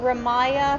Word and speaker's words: Ramya: So it's like Ramya, like R-U-M-Y-A. It's kind of confusing because it's spelled R-A-M-Y-A, Okay. but pronounced R-U-M-Y-A. Okay.